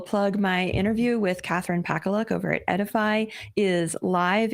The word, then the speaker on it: Pakaluk: Her name is pronounced Pakaluk.